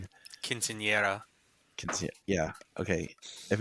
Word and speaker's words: Quinceañera: But Sarah is having her Casineta. Is that am I pronouncing it? Quinceañera.